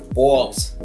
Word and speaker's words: BAWLS: Balls. That's how it's pronounced.